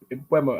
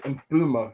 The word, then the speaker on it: Mbeumo: Mbeumo and him. That's apparently, I've been saying it wrong. Apparently, it's Mbeumo, not Mbeumo. I keep saying Mbeumo, but it's actually Mbeumo.